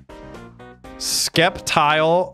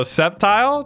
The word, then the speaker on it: Sceptile: in the favorites baby skeptile pronouncers can burn oh Sceptile true love what does